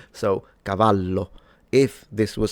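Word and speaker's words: cavallo: And one last thing I wanted to say is that of course the double L in Italian is just pronounced as a longer slash stronger version of the single L. So, Cavalo, if this was spelled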